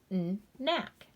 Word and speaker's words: knack: same jobs this week knack knick knack k is silent and makes the sound km says knee silent